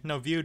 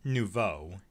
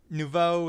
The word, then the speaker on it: nouveau: the rtx 2060 working and it's using the no view drivers like i mentioned before or actually hold on a second is that how it's pronounced hold on hold on okay so it's pronounced nouveau anyway as i was saying nouveau is the